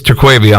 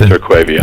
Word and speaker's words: Terquavion: He's been there, but it's Terquavion, obviously, T. Smith. No, it's Terquavion.